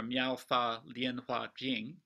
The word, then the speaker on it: 妙法蓮華經: mispronounce this horribly but the chinese characters are miaow lien hua jing and in japan it's